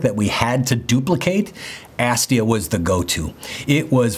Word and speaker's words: Astia: because it represents the tone curve from fuji's astia film that's the correct pronunciation by the way astia was a hundred